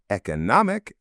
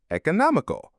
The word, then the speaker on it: economic: You can pronounce both words with either an e or an e sound at the beginning. Economic. Economic. Economical. Economical. I wish I could tell you which pronunciation I use all the time, but honestly, I flipped between the two. I grew up with different teachers using the different pronunciations, and I just never really thought about it and used both. Try them out.